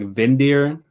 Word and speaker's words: Windir: If you're looking for some like wild arrangements, like Vindir, spelled like Windir, that's a great one.